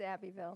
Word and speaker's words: Abbeville: She's a native of, is that Abbeville or Abbeville? It's Abbeville.